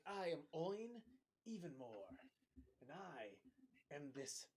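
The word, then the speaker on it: Oyn: Oin.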